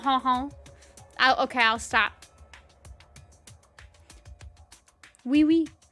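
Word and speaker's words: oui oui: home okay i'll stop wee-wee but actually we is not spelled like that it spells o-u-i twice uh there were two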